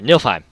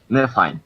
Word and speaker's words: Niflheim: I keep forgetting how to pronounce this one, but... Ice and fire. Yeah, it was Ice and Fire. Nilfheim. Niflheim.